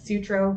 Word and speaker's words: Sutro: That's Sutro, like Sutro Tower.